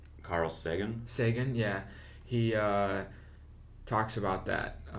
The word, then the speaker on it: Sagan: Yeah, like on some Carl Sagan, or how do you pronounce his last name? Carl Sagan. Sagan, yeah.